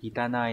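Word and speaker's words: 汚い: Chữ ô này nhá, các bạn sẽ có âm kunyomi đọc là kita trong từ kitanai này.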